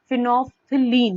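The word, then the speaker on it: phenolphthalein: फिनोफ्थिलीन, मैं दोबारा से आपको इसको प्रोनाउंसिएशन बता देती हूँ।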